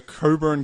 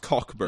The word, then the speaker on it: Cockburn: the Coburn Gazette. Not pronounced Cockburn.